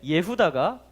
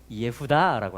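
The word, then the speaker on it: יהודה: 그때 예후다가, 유다를 히브리식으로 읽으면 예후다라고 합니다. 우리 한번 해볼까요? 예후다, 예후다.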